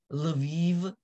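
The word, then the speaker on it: Lviv: know in manana uh an l will become a lei an s will become a she and this is how live is spelled it's l and then the soft sound and v i v so the closest that i can think of uh is leve so it's kind you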